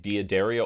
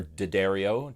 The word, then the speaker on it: D'Addario: ernie ball regular slinky i also played dia deria or d'addario depending on how you feel like pronouncing it i play d'addario